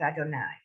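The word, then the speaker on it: אדוני: Most of your congregations probably saying that, but realize in Sephardi it's Adonai. Because that vowel is and not O. That's really why.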